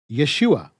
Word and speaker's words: Yeshua: from the contraction standpoint it's pronounced exactly like you'd expect when you take the ho out of yahushua Yeshua but if you're still